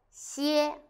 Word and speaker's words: 些: In this video, I will teach you how to pronounce it, how to write it, and how to use it. 1st, let's read together. 歇, 吸, 噎, 歇.